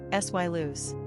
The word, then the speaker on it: Silas: Pronunciation, sy loose.